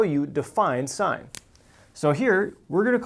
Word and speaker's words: sine: about just one ratio here and that is sine notice here it's spelled with an E and that's the full spelling on your calculator you're going to see a cyan it's still pronounced sine if you want to drive your geometry teacher